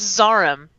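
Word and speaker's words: Zarhym: the hook up from zarhaim um his name is zaram oh really zaram yes he's quite particular about how you say his name no excuse me i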